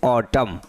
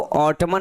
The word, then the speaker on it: autumn: यहाँ पर स्पेलिंग इसकी AUTUMN लिखा हुआ, लेकिन इसको पढ़ेंगे हम सिर्फ ऑटम, इसको ऑटमन नहीं पढ़ेंगे। ओके, इसे ऑटमन नहीं पढ़ेंगे, यहाँ पर एन आपका साइलेंट होता है।